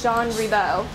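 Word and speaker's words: Jean Ribault: so when we say Jean rebol when we see it on signs when we see it uh the school listed but the actual French pronunciation is jeano okay so as we read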